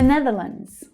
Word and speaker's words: Netherlands: The Netherlands. The Netherlands. So we have an unstressed the, followed by the stressed syllable ne, ne. And then followed by the voiced consonant sound, nev, nev.